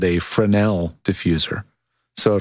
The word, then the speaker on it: Fresnel: those are fresnel lenses it's spelled f-r-e-s-n-e-l the s is silent but they make a